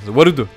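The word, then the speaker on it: ワールド: C'est quoi Warudo? C'est World en fait. Mais version japonaise. Warudo. Mais voilà, pour prononcer comme eux seuls savent le faire.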